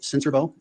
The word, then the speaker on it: Sincerbeaux: My name is Cincerbo, and my last name is spelled Sincerbeaux.